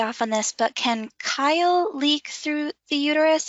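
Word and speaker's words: chyle: pronunciation may be off on this but can kyle leak through the uterus it's pronounced it's spelled c-h-y-l-e yes uh it could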